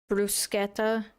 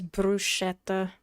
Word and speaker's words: bruschetta: In Italian, the s ch makes it a hard sk bruseta, but everyone here for some reason says bruschetta bruschetta bruseta.